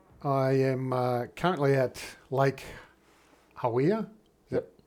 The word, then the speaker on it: Hawea: Okay, well, I am currently at Lake Hawea, is that pronounced right?